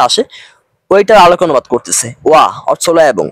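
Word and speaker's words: وَ: তিনি আপনার কথার ধাচে যে অনুবাদ উচ্চারণটা আসে ওইটার আলোক অনুবাদ করতেছে। ওয়া অর্থ এবং এ কারণে দেখবেন আমি মানে মাঝে মাঝে ওয়াও না বলে ওয়া বলি।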